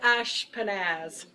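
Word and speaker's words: Ashpenaz: person here in Babylon and my name is Ash panaz but you know everybody mispronounces my name so I came up with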